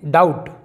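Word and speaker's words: doubt: इसे हम पढ़ेंगे डाउट, ना कि डाउट।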